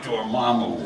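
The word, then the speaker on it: Dormammu: just saying the name now you know how it's pronounced I never knew that was the pronunciation Damu thank you thanks for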